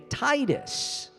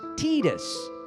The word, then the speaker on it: Tidus: how well see now most people say Titus right yeah yeah yeah yeah but it's actually pronounced Titus yeah but because in